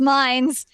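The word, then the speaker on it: Mainz: gets like, shot in mains, or as I like to call it in this game, mines. I'm so mad that it's pronounced mines.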